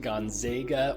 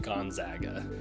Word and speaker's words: Gonzaga: Often pronounced Gonzaga or Gonzaga for whatever reason, it is actually pronounced Gonzaga.